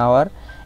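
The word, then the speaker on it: hour: এরপরে আছে অ্যান আওয়ার, এখানে কিন্তু এই যে আওয়ার এইটা ও এর মতো উচ্চারণ হচ্ছে, এই জন্য এখানে অ্যান হলো।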